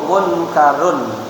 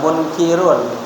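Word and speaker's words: منكر: ani dan yang kedua lawiu a la yzi munkarun ifad hilf munka bacanya munkarun jangan munkirun ada orang juga malaikat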